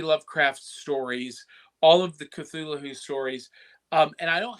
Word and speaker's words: Cthulhu: but uh we're talking cthulu or or as I've been told by George Nory who hosts Coast to Coast AM that is actually pronounced cthulu oh you actually pronounce it with the H interesting I thought that